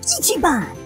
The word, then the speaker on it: Ichi-ban: hi my name is Ichi Bon I know it's a funny name my human Mommy gave it to me it rhymes with pachy and it's Japanese for number one b because I'm the